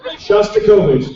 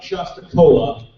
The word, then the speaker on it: Shostakovich: Shostakovich, it kind of sounds like it's spelled like it sounds. Not like Shostacola, but like Shosta.